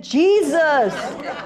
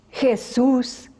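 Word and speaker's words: Jesús: it as varus cashews she called him Jesus equally we were so pinches we throw ourselves on the floor say Jesus make a miracle help me lob Jesus hey soos he was the smartest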